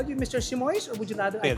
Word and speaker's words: Simoes: so I want to know how do you pronounce your last name? Uh, it's a very good question. It's Simo, but right now I also forgot how to